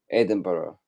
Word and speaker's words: Edinburgh: he said he's been to Edinburgh and Edinburgh Edinburgh that's how you pronounce it Edinburgh Edinburgh Edinburgh is a nice